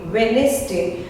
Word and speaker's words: Wednesday: Next we'll do words where D letter is kept silent, and the first one is Wednesday, not Wednesday, Wednesday. See you on Wednesday. D is silent.